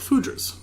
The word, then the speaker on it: foudres: The aging vessel was Oak Foudres, which we've now decided that's the commonly accepted pronunciation.